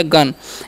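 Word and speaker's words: gun: तो जी का उच्चारण ग करेंगे, यू का अ, एन से न, तो हो गया गन। इसे गुण नहीं पढ़ना, यू का उच्चारण यहाँ पर अ होता है।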